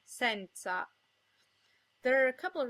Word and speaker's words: senza: Most of the time, O and E are pronounced closed. O as in ponte, and E as in nero. If the O or the E is in a stressed syllable, it's sometimes pronounced open, O as in donna, and E as in senza.